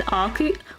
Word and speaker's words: Arceus: Do you say Arceus? Arceus as well. She's got so many roles, including Jigglypuff. I know. You mistook Jessie for James, really? The only real pronunciation of Arceus is Arcu.